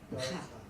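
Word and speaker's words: ברכה: ra, Bracha. baraka. Bracha. Okay, now, let me see about these pronunciations here.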